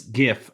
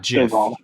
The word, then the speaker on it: GIF: Rayquaza oh gosh and it's GIF not GIF no matter what the person says it's GIF anyway I'm I'm with you